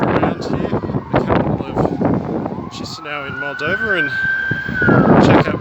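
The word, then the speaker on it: Chișinău: Hi guys, and welcome to the capital city of Moldova, which is pronounced, I believe, Chisinau. I've always thought it was Chisinau, which I understand now is incorrect.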